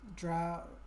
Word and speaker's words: drow: interesting a lot of is it drow or Draw drow I'm mainly playing it in French like with uh French speakers so I forget how to pronounce races and classes in English I'm just gonna jump there we go draw like cow okay yeah that's what